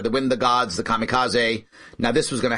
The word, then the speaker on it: kamikaze: with your bomb and they call them the kamikaze actually is pronounced in japanese the kamikaze which means by the way divine wind kami